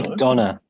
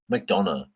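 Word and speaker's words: McDonagh: McDonough. McDonough. It's like Um, McDonald's, but without.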